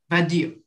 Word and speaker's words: Vadio: Vadio. Yeah, the accent is on the I, Vadio, which means, oh, I should obviously have looked for the translation.